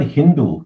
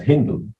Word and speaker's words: Hindu: with the letter s they tended to pronounce it with an H sound so they pronounced the name of the river as Hindu and they referred that